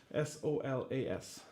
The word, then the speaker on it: Solas: Solas. A-S. I guess the Americans pronounce it Solas, but it's an Irish word that means light, solace.